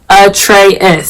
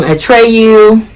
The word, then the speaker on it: Atreus: But the crazy thing is, his name is Atreus, so it's spelled Atreus, and people call him Atreyu, Atreus. We get Atreus all the time at the doctor's office.